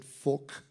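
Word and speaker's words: Phúc: I said Phuc is the right way of pronouncing it.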